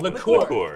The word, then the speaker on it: liqueur: Liqueur. Liqueur and liquor are different. You say it like a French person.